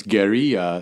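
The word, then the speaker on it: guerrilla: guerilla filmmaker guerilla war but it's gera it's French for little war it has nothing to do with apes it's right right exactly so so if we pronounce it Right.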